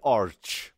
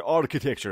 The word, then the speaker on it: architecture: معمار و کلمه معماری رو به اشتباه نگید آرچ. برای بچه هایی که رشته معماری میخونید نگید که آرچ. نه، آرچی در کار نیست. A-R-C-H تلفظش که هستش. پس لغت اول architecture. اوکی؟ آرکی. ببینید آرکی. Not architecture. خیلی از دوستان هنوزم میگن architecture، در حالی که خود این لغت کلن معنیش میشه آرکیتکچر. اوکی؟